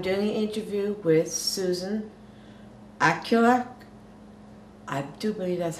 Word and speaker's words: Aglukark: my special guest, Susan Aglukark. How do you spell that? How do you say that? It's pronounced Aglukark. Aglukark. Aglukark, yeah, so phonetically U-G-H, Aglukark.